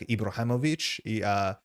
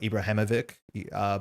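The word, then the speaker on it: Ibrahimović: of their name, like Ibrahimovic. That is generally pronounced ich instead of ik. A lot of people do say ik, like Ibrahimovic, but generally you should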